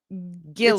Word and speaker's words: Gilloys: It's by the Gilloys. I'm saying it right. Gilloys. It's by the Gilloys. No, the emphasis is on the Gill. Gilloys.